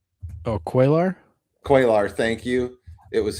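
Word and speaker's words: Cuellar: Oh, quailar.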